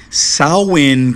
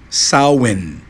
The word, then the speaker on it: Samhain: Samhain, como você pode observar, escreve-se assim, né? E pronuncia-se assim, Samhain.